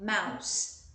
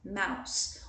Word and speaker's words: mouse: Temos mais alguns aqui, mouse, presta atenção na pronúncia, mouse, o S é sonoro aqui, eu falo com som de S, não com som de Z, tá? Então, mouse, mouse.